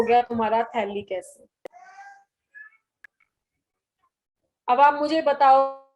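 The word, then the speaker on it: phthalic: तो देखते हैं इसको, C double bond O, C double bond O, और बीच में एक O, तो इसको बोलते हैं थैलिक एनहाइड्राइड। P इसमें साइलेंट है, थैलिक एनहाइड्राइड।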